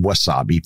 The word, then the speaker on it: Wasabi: Now, the first of these is a company called Wasabi Power. And yes, their name sounds and is spelled just like the hot Japanese condiment that you can use on your sushi that is green in color.